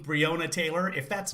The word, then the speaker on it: Breonna: Okay, so it is pronounced Breonna.